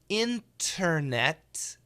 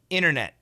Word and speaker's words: internet: So first of all, perfect pronunciation, internet, fast pronunciation, internet, internet, internet. The first T is canceled, and the second T we stop.